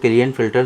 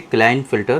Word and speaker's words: Klinefelter: इसको बहुत सारे लोग क्लियन-फिल्टर सिंड्रोम भी कहते हैं, लेकिन एक्चुअली जो इसका प्रोनाउंसिएशन है वो है क्लाइनफिल्टर सिंड्रोम।